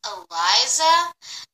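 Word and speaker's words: Alizia: My name is pronounced Eliza. Oh, A-L-I-Z-I-A.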